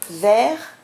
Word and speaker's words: verre: Donc ces quatre mots, vers, vers, vers et vers, ont le même son, on les prononce de la même manière, mais ils ont complètement des sens différents.